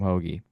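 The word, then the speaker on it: Hoge: yeah you're close darn yeah also Tom Tom hogi is that is that is that am I getting that pronunciation correct Tom hog yeah yeah just an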